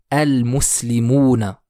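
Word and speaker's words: المسلمون: sur le mot solaires je vais donc dire le mot el muslimouna le mime fait partie des lettres lunaire donc je prononce LEM el muslimouna s'en suit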